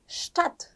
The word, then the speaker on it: Stadt: ST로 시작했을 때 스트 아니고 슈트였죠. 그럼 이 단어는 어떻게 읽을까요? 네. Stadt.